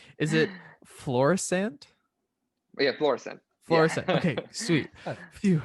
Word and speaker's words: Florissant: And I'm gonna hurt everyone in Missouri because I think I might pronounce this place wrong. Is it Florissant? Yeah, Florissant.